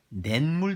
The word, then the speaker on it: 냇물: 자, 예를 들어 내와 물이 합쳐집시다. 여기서 니은 첨가는 발음상의 첨가입니다. 발음할 때 어떻게 돼요? 냇물 되죠? 냇물 됩니다. 냇물.